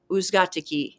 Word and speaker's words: Uzgatiki: His name was Leo Uzgatiki. And if you say who's got the key really fast, that's how you say his name.